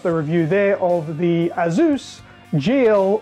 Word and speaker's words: ASUS: so there it is it is pronounced as Zeus and now we're going